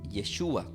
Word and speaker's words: Yeshua: O sea, el nombre, sobre todo el nombre, es Yeshua, que significa el Salvador, que del griego es pronunciado como Jesús, pero del hebreo es traducido literal como Yeshua.